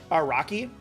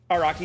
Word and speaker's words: Araki: I still don't know if that's a real person or not, but I do know now that I was pronouncing it wrong. Araki is the author.